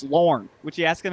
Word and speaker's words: Lorne: I mean, it's Lorne. Would you ask him how to say his name? Don't be shy. It's Lorne.